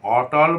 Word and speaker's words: অটল: আর অটল মানে হলো যে টলে না। মানে যে টলে না মানে স্থির হয়ে থাকে। সেইজন্য অর্থ পরিবর্তিত হতে না পারে সেই জন্য এটার উচ্চারণ হবে অটল।